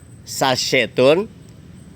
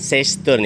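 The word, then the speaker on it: chassé turn: Ciri utama sasetun selanjutnya saya akan sebut ya bukan se tune ya.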